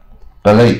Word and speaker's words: ballet: ，又叫水上芭蕾啊，ballet 啊，T 不发音。You need a lot of stamina to play water polo.